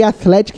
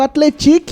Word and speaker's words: Athletic: João del-rei o Atlético falei Atlético e mas Atletico o nome do time muito bem o Athletic é o oitavo colocado com